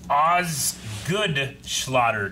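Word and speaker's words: Osgood-Schlatter: because it's very well taped you mean it's pronounced oz good schlatter disease osgood osgood slaughter disease a childhood repetitive use injury that causes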